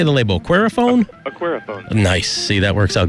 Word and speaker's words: Aquariphone: Aquariphone.